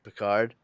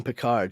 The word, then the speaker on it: Picard: say his name with the proper French pronunciation she doesn't ever call him Picard she calls him picar God we needed you